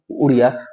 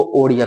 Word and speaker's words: ओडिया: उड़िया उड़ीसा हो गया उ का उच्चारण ओ हो हो गया और यहां की जो भाषा थी उड़िया उसको ओडिया कर दिया गया यानी उ से उच्चारण ओ कर दिया गया 96वा संविधान संशोधन